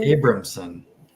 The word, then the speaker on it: Abramson: Abramson. Abramson. Yeah, that's how you say it. We were struggling with pronouncing it at the beginning.